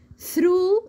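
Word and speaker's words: through: هاي، هاي، ثرو اللي هي بمعنى من خلال، برضو هنا الكلمه دي منتهيه بالجي والاتش وبرضو ما نطقناش حرف الجي والاتش، كانوا معايا سايلنت ليتر.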